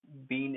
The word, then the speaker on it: being: see being in isolation being in itself it's b but when we see it in sentences we say bin like bi and bin so you have to